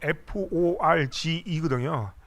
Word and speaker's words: Forge: 가지고 저희가 그 하니웰 4G for Industrial 이라는 어떤 브랜드로 저희가 지능화를 정의하거든요. 근데 여기서 지금 하니웰 4G 할 때 이 발음이 중요한데 이게 우리 5G 4G 할 때 4G가 아니고 이 영어로 FORGE거든요.